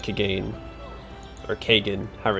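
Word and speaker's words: Kagain: So I do like Kagane, or Kagan, however it's pronounced in the first game. So I think I've always called him Kagane, but his name is actually pronounced Kagan.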